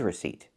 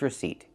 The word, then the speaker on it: receipt: He has his receipt. Remember, the P is silent. He has his receipt because he's already paid.